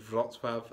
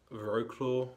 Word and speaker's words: Wrocław: people would probably say just like how the city i was in today was called vlotsworth and not veroclaw or however again british people would pronounce it definitely not philosoph definitely